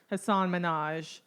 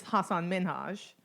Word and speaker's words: Hasan Minhaj: no Aparna nonchalant like every comedian still says Hasan Minhaj when it's Hasan Minhaj it's like how he pronounced I can't if you're gonna be a